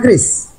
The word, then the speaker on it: QRIS: Yang sudah berbelanja dan menggunakan transaksi secara menggunakan kris. Ada? Saya Om. Atau masih bingung? Kris atau kiris ini? Sudah ada katanya. Ya, penggunaannya adalah penyebutannya adalah kris ya. Kris. QRIS. QRIS itu bacanya kris.